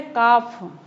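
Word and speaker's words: calf: भी आ रहा है फिर है काफ स्पेलिंग तो है सी ए एल एफ लेकिन बोलेंगे इसे काफ यानी कि जो बच्चा रहता है बकरी का उसको बोलते हैं काफ तो यह एल यहां पर साउंड नहीं आ रहा है इस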